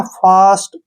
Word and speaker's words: fast: FAST, अब इसमें भी ए के बाद ST आया है, फास्ट, ठीक है ना, फास्ट।